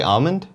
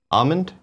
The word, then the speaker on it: almond: were gonna get there as long as you pronounce the L why some people say almond almond like without the L but we're doing the